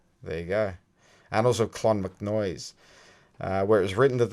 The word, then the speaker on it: Clonmacnoise: It's spelt Clonmacnoise. There you go. Annals of Clonmacnoise, where it was written that the head of